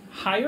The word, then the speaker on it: Hyer: I pronounced it correct, right? H-Y-E-R? Hyer? Hyer.